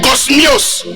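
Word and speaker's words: κόσμιος: Le mot grec pour décence est kosmios. Le mot grec pour décence, c'est le mot grec kosmios. Ça s'écrit K-O-S-M-I-O-S, qui signifie avec ordre, propre, convenable.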